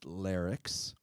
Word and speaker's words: Larix: It's pronounced Larix, okay?